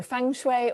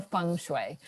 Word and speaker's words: feng shui: shui yeah yes like a lot of people will call it either feng shui or feng shui but you can get away with both okay i'm going to